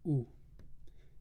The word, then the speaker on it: У: one but that's okay this thing that looks like a y is actually pronounced U the example is uko